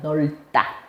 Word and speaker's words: 넓다: 자, 리을 비읍의 대표음이 뭐야? 얘 발음 어떻게 나? 리을이야 비읍이야? 리을이요. 그치. 훌륭합니다. 넓다입니다. 얘가 정상이에요. 넓다.